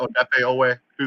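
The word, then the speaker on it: Odafe Oweh: I know he doesn't go by that anymore, but I don't know how to pronounce it. Odefe Owe.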